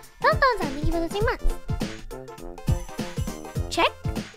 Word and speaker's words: Czech: Check? Is that how you say it? Check? By the Czech? Ah, Czech? Okay.